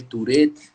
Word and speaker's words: Tourette: Eh, el que tiene, ¿cómo se dice? Taurek, Tourette, Tarek, síndrome de Tarek. Tourette.